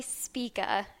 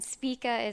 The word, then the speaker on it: Spika: can my bad so my name is speaker and speaka is SP ika which is kind of hard to pronounce and in college you know everyone knows